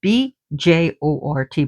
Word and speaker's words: Bjort: Bjort means Bjort, but it's pronounced Bjort, means bright.